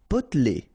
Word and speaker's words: potelé: Potelé. Okay, here you don't really pronounce this E.